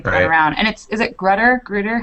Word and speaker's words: Grutter: And is it Grutter? How do you pronounce it? Yeah, Grutter.